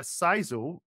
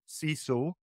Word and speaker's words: CISO: of stuff so basically a sizo ciso however you want to see it I've stopped saying see so now because when my